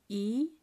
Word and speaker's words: 이: So when it means teeth, the pronunciation is shorter. So we say it this way, E, E. So number two, E is long, E. And teeth is short, E, E.